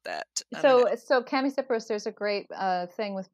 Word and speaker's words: Chamaecyparis: I was listening to an RHS podcast the other day, and I think Matt Pottage, the head of RHS, said at Wisley, said chamois Cyperus. Now, I don't know if that was a Britishism or if that was the way it's supposed to be pronounced, but I don't know